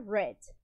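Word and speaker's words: read: mesmo do presente só que na hora de pronunciar nós vamos falar Red e Bot de comprar comprar alguma coisa ok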